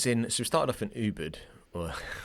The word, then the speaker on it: Ubud: we started off in Ubud, or how do the Americans say it? Ubud. Ubud, yeah. Ubud. Well, we're saying Ubud, right? That's like there's a U there. There's a U. Exactly.